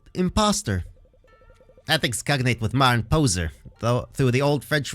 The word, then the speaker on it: pose: ethics cognate with modern poser though through the old French word po posh just in case you can't hear me speak these words French pose rhymes with the name Jose since word final air